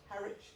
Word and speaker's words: Harwich: That's how Harwich is pronounced, where they got off.